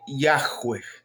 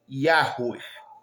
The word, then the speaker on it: Yahweh: Detalhe, Yahvé, a pronúncia mais próxima, que é possivelmente a pronúncia correta, é Yahweh. Yahweh. Mais ou menos isso.